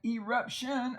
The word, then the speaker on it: eruption: if you have an eruption of a volcano and notice the E is long at the end of a syllable and we can take